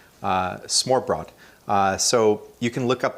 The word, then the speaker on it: Smørrebrød: A name for this style of brunch, I think the pronunciation might not be right, but it's Smørrebrød. So Smorrebrød. Smørrebrød.